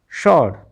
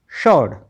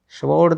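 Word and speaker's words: sword: शर्ड एस डब्ल्यू आर डी में W silent हो गया। एस डब्ल्यू इकट्ठा आता है तो वहां पर क्या है? डब्ल्यू साइलेंट है। इसलिए हम क्या पढ़ेंगे? शर्ड। स्वर्ड नहीं स्वर्ड नहीं पढ़ना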